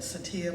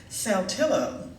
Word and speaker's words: Saltillo: I'll tell you, there's a town in Mississippi, and it's spelled Saltillo. And some people would probably call that Satia, but we in Mississippi call it Saltillo.